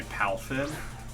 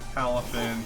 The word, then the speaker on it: Palafin: I feel like I always don't actually pronounce the second A and I just say Palafin instead of Palafin.